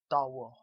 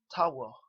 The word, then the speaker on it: tawo: pronounced tawo, tawo, not tawo, as many people do, and it's not entirely wrong. They are attempting to say the word thanks, but it's supposed to be pronounced with a harder T.